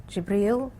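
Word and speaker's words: جبريل: me through the Angel jabriel that's how you say it in Arabic and Gabriel in English and and then exort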